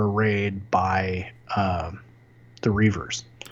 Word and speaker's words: Reaver: Reaver. Ree or Longy. Okay, fine. You want to pronounce it the way they do in the show. Rever.